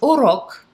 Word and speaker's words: урок: So the word tutorial is урок. Very short, very easy. As usual, I'm going to put the Russian Cyrillic here and the phonetic spelling, the phonetic pronunciation right below. So урок, and the Russian R's are very hard, so you gotta roll it.